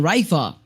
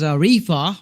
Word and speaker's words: Rifa: Okay, I was talking I was pronouncing it as a Rea but no it's Rifa. At the end of the last moment, at the very last moment, I found out that that name should be Rifa.